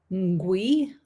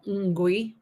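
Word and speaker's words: ngwee: One, I think it's Ngui, is how that's pronounced. I think the N is kind of a Ngui.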